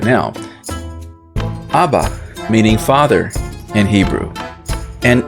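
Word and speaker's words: אבא: So how do you know that Abba, beginning with aleph, is supposed to sound like that, with a short A sound, as we would say in English?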